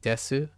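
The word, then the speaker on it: です: is pronounced as sushi desu, which is 3. Well, it's sushi desu. So sushi desu. But the thing about su is it's shortened. Oftentimes it can be shortened in places.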